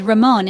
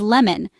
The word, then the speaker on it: lemon: This word is often pronounced as ramon in Japanese. The correct pronunciation, though, is lemon, with an L sound at the start, not an R.